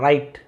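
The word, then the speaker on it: write: राइट down W silent है। राइट राइट down लिखना।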